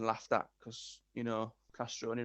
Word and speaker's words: Castroni: So I've always, since being the kid in high school, having the Italy shirt on, being laughed at because, you know, Castroni rhymes with macaroni, and, you know, it wasn't an easy name to walk around with.